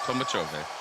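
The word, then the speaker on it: Tolmachevy: That's how you say it, Tolmachovi.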